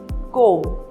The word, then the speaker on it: comb: Whenever B follows the letter M in a word, then B is silent. For example, comb, bomb, thumb.